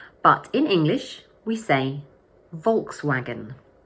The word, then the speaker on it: Volkswagen: But in English, we say: Volkswagen. So the word has three syllables, and the first one is stressed. Volks-wa-gen Volkswagen Here's another example of a German car that is pronounced quite differently in English.